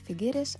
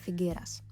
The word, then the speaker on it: Figueres: Maybe some of you noticed that I pronounce the city as Figueres, while on the map it might be written as Figueras. Figueres is the official name in Catalan, while Figueras is the Castilian version, which you can also sometimes come across.